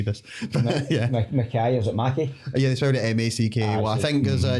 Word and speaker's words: McKay: case they see this yeah okay is it Mackie yeah I think as uh Neil Mackay who's